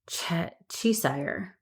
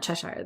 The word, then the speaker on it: Cheshire: Gerard Cheshire Chisire, not Cheshire.